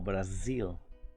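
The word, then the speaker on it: Brazil: de la zeta dicenta cuando escuchen por ejemplo el nombre del país raciel no nos digan como para así como en español sino como brasil brasil el sonido de ese como ligeramente mezclado con una de radio vacío acepté ok para los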